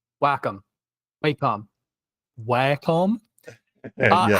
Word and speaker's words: Wacom: possible I guess is what do you do with the moles in the arcade you whack them so that's how you pronounced Wacom right I will back